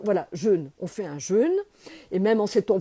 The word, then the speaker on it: jeûne: le jeûne le jeûne j'insiste on dit bien jeûne on dit pas un jeune j'entends tout le monde dire de grâce prononcer il y a un accent circonflexe sur le U donc c'est important de